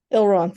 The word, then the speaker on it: Elrond: Yeah, it's Agent Smith, and also I can't pronounce his name for the Lord of the Rings movie. Elrond. Elrond, thank you.